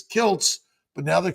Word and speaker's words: Kiltz: So I added a T so they pronounced it properly, which Kilz is Kilts. But now they call me Dr. Klitz.